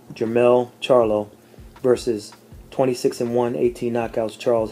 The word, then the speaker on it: Charlo: m e l l Charlo I forgot their their last name is pronounced with a sh Charlo charot was enrolled with